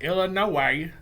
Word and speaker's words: Illinois: the illinois state line he pronounced illinois exactly the way everyone in buy banks kentucky pronounced it and hearing that illa noah made me suddenly homesick